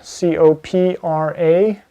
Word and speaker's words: Copra: And then another one, which is another one that I would recommend, is Copra, C-O-P-R-A, or Copra, however you want to pronounce it.